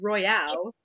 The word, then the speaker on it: Royale: saying you're wrong no there's an e on the end of Royale it's Royale a silent E over here uhhuh you